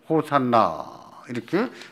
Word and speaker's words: 호산나: 호산나라고 하는 말은 히브리어 호시아나의 음역입니다. 다시 말해서 히브리어로는 호시아나인데 이것을 헬라로 옮기면서 호산나 이렇게 발음하게 된 겁니다.